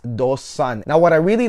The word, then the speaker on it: Do Son: here but really the right way to say it is dos son now what i really